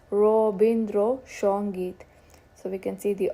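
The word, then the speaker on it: Rabindra Sangeet: And Bengali has a way of transforming the Sanskrit words. The o, bo, sho sounds are quite a mark. Anand becomes Anand. Van becomes Bon. Shravan becomes Shravan. And Rasagulla is Roshagulla. So Ravindra Sangeet is Robindro Shongeet.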